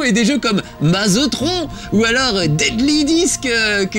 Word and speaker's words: Tron: regardez il est là-bas ça ne s'appelle pas Tron comme le ministre George Tron mais Tron évidemment comme ça que ça se prononce hein c'est le premier